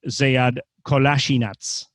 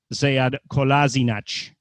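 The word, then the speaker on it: Kolašinac: In the interview, he said that there really are 2 pronunciations, because from the Bosnian point of view, it would be Sead Kolasinac. In German, Sead Kolasinac. Slightly different.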